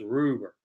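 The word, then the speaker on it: Rubbert: I think I heard somebody say on the radio, it's Ed Rupert. The B's are pronounced like P's.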